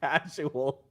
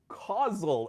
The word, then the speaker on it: causal: I said casual. Michael correctly correcting me. Causal evidence, not casual evidence.